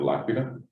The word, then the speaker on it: L'Aquila: I'm going to mispronounce the university, so I'm going to let you say it, right? Yeah, University of L'Aquila. L'Aquila? L'Aquila, yes.